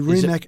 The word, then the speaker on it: Rimac: The Rimac Nevera. Oh, you said Rimac? I said Rimac. Rimac.